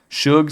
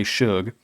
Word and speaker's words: Sug: Also, shout out to the comments section who told me it's pronounced Suge. I don't get how if your name is spelled s u that that's sug. But, okay, I will say Suge.